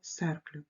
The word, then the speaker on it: cercle: Тож зверніть, будь ласка, увагу на вимову слова «cercle» – «с», адже далі йде «е», але «к» – «cercle», «centre», «corde», «arc».